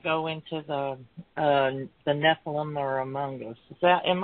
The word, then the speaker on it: Nephilim: we're going to go into the uh the Nephilim or amongus is that am I saying that right Nephilim yeah yeah it's pronounced Nephilim okay all right all right the dog go